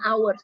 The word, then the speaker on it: hours: Bacanya hours ya. Jadi hanya nggak dibaca.